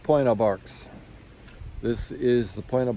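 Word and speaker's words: Pointe aux Barques: So it's pronounced Point of Barks.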